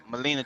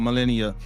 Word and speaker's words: Melania: thing about it is, as far as Melania Trump, right?